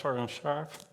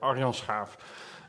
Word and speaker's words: Arjan Schaaf: My name is Arjan Schaaf. I tried to pronounce it in English, it won't work. Arjan Schaaf.